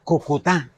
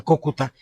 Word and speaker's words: Cúcuta: Incluso en Madrid no pronunciaban bien el nombre de la ciudad porque decían Cucutá y lo llegaron a confundir con Calcuta.